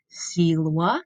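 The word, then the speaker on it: silva: next word is Selah Selah you can hear I'm pronouncing that V like a w c Lua when that's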